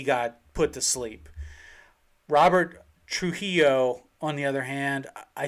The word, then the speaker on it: Trujillo: Am I butchering that? You butchered it. Absolutely. Well, how is it pronounced? Robert? I have no idea, but I know you butchered it. Trujillo? Trujillo. That's what it is.